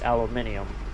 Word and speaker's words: aluminium: Yeah, I think in the UK they pronounce it as aluminium. One of those words that spelled the same both ways, but we say it differently.